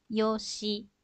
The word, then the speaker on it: yoshi: Nah, apabila ditulis dengan huruf, itu sebenarnya yoshi. Seperti itu ya, hurufnya ada bunyi shi di belakang, tetapi diucapkannya yosh.